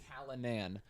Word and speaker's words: Callinan: Callinan, which you expected to be Callahan or something.